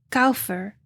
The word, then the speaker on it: kopher: palabra para Brea en la transliteración hebrea se pronuncia caufer K o o p h e r que